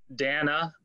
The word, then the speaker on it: Dana: This week, the council did meet with a transition pastor, Dana, that rhymes with banana.